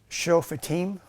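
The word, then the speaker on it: שופטים: Hebrew is um okay I kind of broke it down phonetically. It's it's the chauffeetim, okay?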